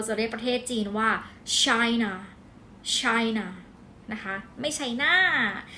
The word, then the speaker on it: China: ภาษา อังกฤษ เรา จะ เรียก ประเทศ จีน ว่า China China นะ คะ ไม่ China China ทา นะ